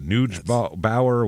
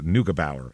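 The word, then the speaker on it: Neugebauer: out with Ronald narau and that is how it's said I found out uh tough name NE u g b a u e r so that's yeah a lot when I saw that I said oh boy is that n Bower what noua bow is how you say it now we'll talk about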